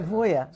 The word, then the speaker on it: Zibuya: So how do you pronounce your name? So my full name is Zibuya. You can try Zibuya. Zibuya, yeah.